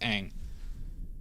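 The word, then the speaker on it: Ingres: It's pronounced ang.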